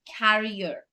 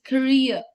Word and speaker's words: career: It's not carrier. It's career.